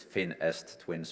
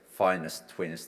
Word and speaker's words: FinEst twins: were pronouncing this word is it finished twins finest twin spots I personally believe it's definitely finest twins the best possible partners